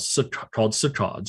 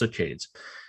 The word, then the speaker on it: saccades: They jump in patterns called saccades, or sometimes pronounced saccades.